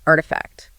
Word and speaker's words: RTFKT: You pronounce it Artifact.